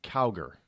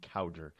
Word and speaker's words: Cowger: the name of Kaden cower now I had been PR mispronouncing his name for for years it's Kaden cowger he started out now